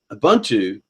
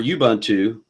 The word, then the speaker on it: Ubuntu: the whole issue is not a buntu or you buntu however you want to pronounce it it's Unity because